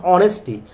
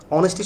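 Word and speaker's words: honesty: থাকে সেগুলো সাইলেন্ট থাকে, যেমন অনেস্টি, অনেস্টি শব্দের মধ্যে এইচ কি সাইলেন্ট থাকে না, ওরকম তো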